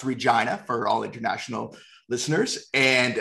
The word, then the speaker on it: Regina: uh we're both from regina saskatchewan uh it's pronounced regina for all international listeners and uh we both